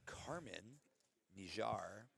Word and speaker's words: Kirman Nijjar: So, you got Katie McBride out of 10th Planet Portland and then uh it's actually pronounced Carmen Nijar out of the Prana Academy and she you know, Carmen just recently got her black belt.